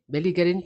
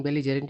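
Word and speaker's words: belligerent: No they are नॉट बेलजरेंट बेलगरेंट नहीं पर बेलजरेंट इसका उच्चारण होता है।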